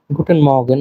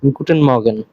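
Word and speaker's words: Guten Morgen: একটা জিনিস মাথায় রাখবেন এই জায়গায় আর এর উচ্চারণটা হয় না তেমন গুটেন মর্গেন এমন করে বলে আমার সাথে আবার বলবেন গুটেন মর্গেন শুভ সকাল এরপরে টাক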